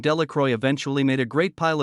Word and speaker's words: Delacroix: and Harry Jones and Dicky delacroy the villagers pronounced this name Delroy eventually made a great